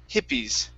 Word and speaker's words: hippies: Give me a short I there at the beginning instead of hippies. It's hippies. Okay, hippies. Okay, one more time. Hippies. So the second I is going to be an E sound.